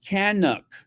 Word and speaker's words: Canucks: as it were uh Lura Williams it is pronounced canuk Canucks canuk thank you very much the Canucks shanuk